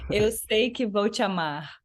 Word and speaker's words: Eu sei que vou te amar: Yeah, Everybody you pronounce it because I bet it sounds much better coming from your mouth. it's called Eu sei que vou te amar, Okay.